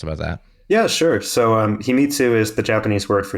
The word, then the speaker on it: Himitsu: Himitsu, is that how you say it? Himitsu, a secret storage system.